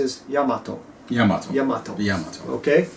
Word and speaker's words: Yamato: And just so there's no confusion, some people call it Yamato, blah, blah, but the pronunciation is Yamato. Yamato. Yamato. Yamato. Okay? In Japanese, the pronunciation is Yamato.